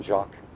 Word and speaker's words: Jacques: I'm Jacques. J-A-C-Q-U-E-S, yes. You don't pronounce the S because then you got a jackass, right?